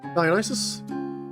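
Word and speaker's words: Dionysus: Dianus. Dianus. So, what is this god specifically? I need to know what the hell is this a god of? Dionis. That's how you pronounce it.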